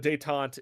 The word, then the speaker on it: détente: But détente is the easing of tension.